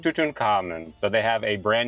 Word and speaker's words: Tutankhamun: You do want to stress on the third syllable. Tutenable tuten tuten. Tuten Common Tutin Common.